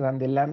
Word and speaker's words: Dandelin: Dandelin es un matemático, se escribe Dandelin, se pronuncia Dandelin en francés porque es el nombre de un matemático francés del siglo XIX, principios del siglo XIX.